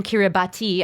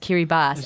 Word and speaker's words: Kiribati: the one to go to hkey rebus written Kiribati I didn't know it's actually pronounced kiri bast and he's currently on a ship off the